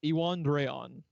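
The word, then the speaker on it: Iwan Rheon: of Thrones name because the way he pronounces his name is iwan Dron it's a Welsh pronunciation that has sounds like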